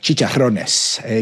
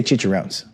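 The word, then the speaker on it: chicharrones: over and over again You're supposed to pronounce Spanish language words with uh inflection like chicharones You can't just say chicheró So all right Um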